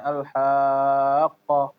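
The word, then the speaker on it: الحاقة: kembali ketika di akhir, jangan sampai dia kurang jelas bacanya al-haqqah ya gitu. Mal-haqqah. Ya. Jadi dialirkan al-haqqah. Ya, dialirkan suaranya.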